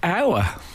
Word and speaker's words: hour: That's definitely a silent letter. No, but it's never occurred to me because it's spelt with the H if you said per hour. But it's we don't say it, we say hour.